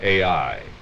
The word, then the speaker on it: Ai: You spell that A-I.